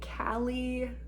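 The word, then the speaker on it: Kalley: It is a pattern by Callie Reedy. That's spelled K-A-L-L-E-Y, Reedy, and it's a pattern that costs $10 US, so it is a paid-for pattern.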